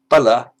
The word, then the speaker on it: bala: Well, bala with a short a is strength, and bala, a different sound, a different meaning, that means fool.